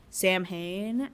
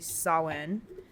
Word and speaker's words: Samhain: And so next episode, if you want to know about Samhain or Samhain as it looks like, Phonetically? yeah, but it's actually pronounced correctly Samhain.